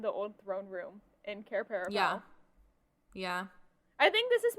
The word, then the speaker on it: Cair Paravel: Cair Paravel? Cair Paravel.